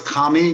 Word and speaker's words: Kamhi: pronounce is it come here or cammy or how do you pronounce your last name it originally was commie but uh when i got